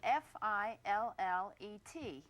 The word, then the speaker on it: fillet: The word that we use in describing fish is spelled f i l l e t and it should be pronounced fillet.